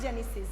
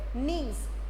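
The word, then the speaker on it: gneiss: don't speak up Janine it is not Genesis it is knees simple you have to say pronounce knees okay so it is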